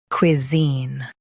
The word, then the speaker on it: cuisine: cuisine Now read the syllables shown on the screen naturally. kwi zeen cuisine Stress zeen and keep kwi light.